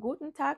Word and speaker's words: Guten Tag: c'est gut tag gen tag gen tag donc Guten Tag c'est aussi le bonjour et ça peut s'utiliser tout au long de la journée donc Guten Tag c'est aussi une salutation très courante en allemand